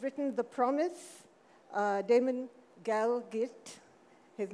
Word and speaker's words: Galgut: being and who's written the promise uh Damon galit his name is spelled galut but it's pronounced galit um and he he won the the booker